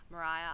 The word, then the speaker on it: Maria: But I've read a little bit and apparently Americans pronounced it Mariah and that's what stuck. if you can believe it. Mariah Island is an isolated island off the coast um of Triabana.